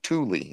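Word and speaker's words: Tooele: we can do Utah there's a town called twill a-- and i tol t o t t oo l e twill to tule is actually how it's supposed to be said in the original Indian but for some reason we call it twill yeah and then there's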